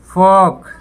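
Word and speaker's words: folk: Walk, walk टहलना, यहाँ भी एल साइलेंट। फॉक, फोक, लोक, लोग, तो यहाँ भी एल साइलेंट।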